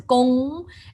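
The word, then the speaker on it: 工: This is pronounced as gong, and this is pronounced as a kong.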